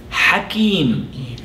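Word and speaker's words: حكيم: The next word that I would like to cover, which rhymes with Alim, is the word Hakim.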